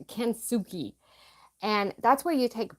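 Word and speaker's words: kintsugi: going to get it wrong but it's called kuki and that's where you take broken pottery and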